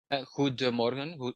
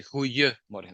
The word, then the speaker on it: goedemorgen: in a colloquial language, we kick that D out. Right? So you have goedemorgen, good morning, goedemorgen. But when we speak, we say goeiemorgen. We kick the D out from Oh, pronunciation.